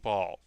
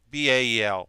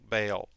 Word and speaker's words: Bael: I keep saying Ball. Bael. Bael.